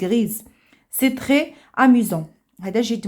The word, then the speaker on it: grise: alors عندنا grise, une jument ما قلناش غري ولكن زدنا او وتنطقات لينا اس اونتر دو فويل, تنطقات لينا زد غريز.